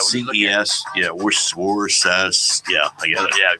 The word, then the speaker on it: Worcester: Yeah, Worcester. Yeah, I get it. Yeah, you try to phonetically spell it out.